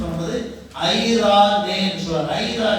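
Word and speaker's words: εἰρήνη: ஐ ரே நேன்னு சொல்லணும். EIRENE EI ஐன்னு சொல்லுவார்கள் Hebrew வேர்ட்ல. NRE ரா என்று சொல்வார்கள். NE நே என்று சொல்வார்கள். ப்ரொனவுன்ஸ் பண்ணும்போது ஐரா நே என்று சொல்வார்கள்.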